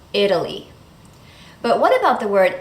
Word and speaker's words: Italy: In the word Italy, that's how we pronounce the country, Italy, the T changes to a fast D because the stress is on that first syllable, Italy.